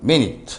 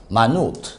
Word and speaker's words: minute: 자, 그 다음에 이거 발음 minute 아닙니다. 분이란 뜻이면 초, 분, minute. 그러나 여기에서는 형용사로서 미세한이라는 뜻이에요. 미세한, minute.